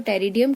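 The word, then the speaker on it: Pteridium: पी जो है वो साइलेंट है, सो टेरिडियम, terrace and other fern, जो फर्न्स है they are having मैक्रोफिलस type of leaves.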